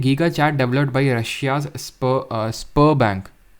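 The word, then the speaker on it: Sberbank: 49 पे आते हैं, giga chad developed by Russia's spur बैंक, कैसे प्रोनाउंस करते हैं इसको, स्बर बैंक, ठीक है, बर बैंक इसको प्रोनाउंस कर देते हैं।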